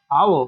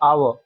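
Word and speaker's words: hour: अगर हम इधर बात करें तो जैसे लिखा हुआ है आवर। तो ये जो एच है क्या साउंड आ रही है? आवर अ आ अ स्वर साउंड है।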